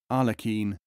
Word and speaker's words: Aglakin: Plural Aglakin, pronounced with guttural R and European Q, as Arlekin, Arlekin.